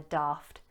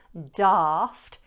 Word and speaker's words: daft: However, it's very likely that you'll hear this A pronounced as a short A.